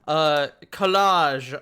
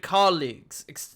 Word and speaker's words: colleague: with me I am joined by my lovely collage of esteemed colleagues, esteemed adventurers. It's pronounced college.